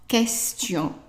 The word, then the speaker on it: question: If you have an S-T-I-O-N, then the T-I-O-N pronounced tion, with the T as in Tom, tion. And as an example, question. So question is written exactly the same way in French, but it's pronounced question. Okay?